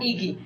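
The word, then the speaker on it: IGY: Pronounced Iki.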